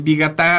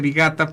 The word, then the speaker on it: Vigatá: Y el Vigatá, a veces la gente dice Vigata porque omiten el acento en la última A.